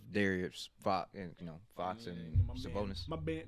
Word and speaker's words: Sabonis: Like, they got stars, like of Darius Fox and Fox and Sabonis. My bad. No, you said it wrong. You said Sabonis. Gotta get the extra S in there, man.